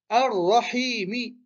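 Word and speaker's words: الرحيم: Ici, on ne dit pas al. Ar-Rahim. Non, on ne dit pas ça. On dit Ar-Rahimi. On ne prononce pas le lem. Ici, le lem, prenons une petite couleur, voilà, on ne le prononce pas. Il n'y a rien dessus. Du coup, on fait la liaison.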